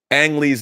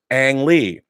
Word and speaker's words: Ang Lee: if not adventurous, then try pronouncing Ang like the first syllable in Anakin. Ang Lee. But stop before your tongue hits your teeth.